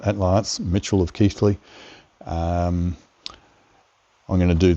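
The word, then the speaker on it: Keighley: See, I've got the pronunciation right. At last, Mitchell of Keefley.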